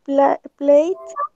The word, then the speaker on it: played: We played football. Yes. Very good. We played football yesterday. Played. Yes, we don't pronounce the E.